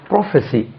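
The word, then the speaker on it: prophecy: பக்கவாதம் ஸ்ட்ரோக்னு சொல்லுவாங்க அதுக்கு பராலிசிஸ் பராலிசிஸ் பராலிசிஸ் தென் ப்ராஃபஸி பி ஆர் ஓ ப்ராஃபஸி பிஆர் ஓ பிச் இசி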